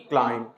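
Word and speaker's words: climb: को खामोश रखना सी एल आई एम बी क्लाइम सी आर यू एम बी क्रम टी एच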